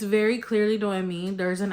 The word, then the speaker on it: Noemi: She keeps saying Noemi, and it's Noemi.